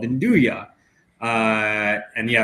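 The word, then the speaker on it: 'nduja: most famous um calabrian products which is called indua uh and yeah it's spelled n d uja a but it's pronounced indua and uh it's it's like it's a pork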